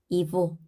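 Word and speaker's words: его: 이보, 이보. 이 고로 되어 있지만 우리는 이보로 읽습니다. 오의 강세가 있어서 그 앞에 있는 얘는 강세가 없기 때문에 강세 앞에 얘는 이로 읽는다.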